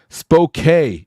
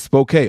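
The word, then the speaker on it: Spokane: man let's go man spok is how they say it spok okay spok my bad I didn't mean to say it wrong British Columbia mom you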